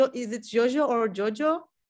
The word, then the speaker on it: Jojo: for jojo by the way do i pronounce your name correctly is it jojo or jojo it's usually jojo but obviously it's pretty often people pronounce differently